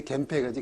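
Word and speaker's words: 源平: 그래서 이게 겐시고 이게 헤이시인데 그래서 겐헤이인데 이게 발음이 이제 겐페이가지 겐페이. 당구 칠 때 겐페이.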